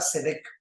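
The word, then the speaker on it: צדק: número uno es la palabra cedec s e d e y k de kilo cedec con acento en la e y la otra palabra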